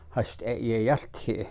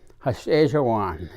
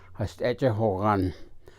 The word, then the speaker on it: Yeibicheii: head dancer is known as the Yeibicheii, or Yeibicheii is the correct way to pronounce it. It is the speaker of peace. And then the other dancers, there were originally 12, and they were called Yeibicheii is what they call them, but the correct